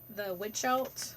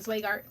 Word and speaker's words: Zweigart: I just buy the Witchelt. I think that's how you pronounce it. Zweigart.